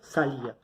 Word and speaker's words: salía: Nosotros acá nos encontramos con la sílaba tónica, que es ia. Pero nos damos cuenta que la fuerza no recae sobre A, que es la sílaba abierta, sino que recae sobre I, que es la sílaba cerrada.